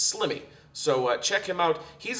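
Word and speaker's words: Sliimy: different his name is slimmy and you can spell that s l i i m y SL l i i m y rhymes with Jimmy it's slimmy so check him out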